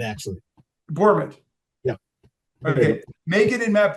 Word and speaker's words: Bourmet: I'm giving that the correct pronunciation, right? It's Bourmet, actually. Bourmet.